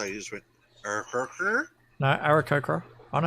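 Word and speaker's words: Aarakocra: You know, that really sounded like you didn't know how to pronounce it, so you just went, no, No, Arakokra. I know how to pronounce it.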